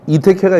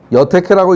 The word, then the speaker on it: 이택회: 이걸 여택회라고 읽는 사람은 주역 맛을 보지 못한 사람입니다. 다른 데서는 이라고 읽지 않으니까 써놓고서 이택해라고 읽는 사람이면 주역 공부한 사람이고 여택해라고 읽는 사람이면 무식하다고 얘기할 게 아니고 이 사람은 주역 맛을 못 본 사람이다.